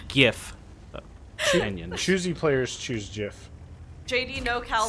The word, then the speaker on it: GIF: I personally am a soft G guy.